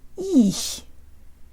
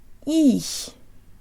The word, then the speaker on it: их: release of the ch, the tongue actually falls or moves to a lower position in the mouth. If it didn't, the word would sound like this. Ich, ich. Instead, we have a darker sound at the end, and we can hear the fall if we slow it way down.